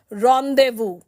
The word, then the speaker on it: rendezvous: This word is not pronounced as rendezvous but is pronounced as rendezvous.